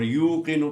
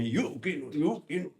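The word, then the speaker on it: يُوقِنُونَ: پڑھنا کتنا آسان ہے تو یہاں حمزہ نہیں ہے بعض لوگ جو ہیں وہ تلفظ میں یوقینو نہیں ہے یہ اصل میں واو ہے اور واو ساکن ہے یہاں حمزہ نہیں کریں گے آپ سمجھ میں آئی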